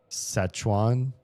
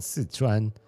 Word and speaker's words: Sichuan: I remember how to say this with with an American accent. Szechuan? Szechuan? Does that sound right? Szechuan? Whatever that. It's the place with 4 rivers, which is why it's called Sichuan. To me, it's hard for me to pronounce it the American way.